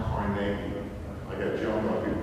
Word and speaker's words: Carnegie: By the way, it's pronounced Carnegie. I got jumped by people from Pittsburgh. They jumped me. They told me it's Carnegie. I pronounced it Carnegie.